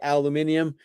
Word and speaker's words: aluminium: right we take a piece of aluminum or a British say aluminium foil and you put